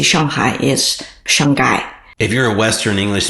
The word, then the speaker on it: Shanghai: Because H is silent, so the way they say Shanghai is Shanghai.